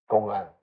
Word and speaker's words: 公案: Gong'an, Chinese, Japanese is kōan. Huatou is Chinese, Japanese is Huatou.